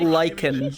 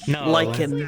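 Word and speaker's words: lichen: No, not lychen. Lyken. I was like, space is a good bucket. Yeah, I know what that is. Pronounced basically the same.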